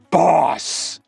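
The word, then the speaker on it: Botensten OS: The Boatenston OS, pronounced boss.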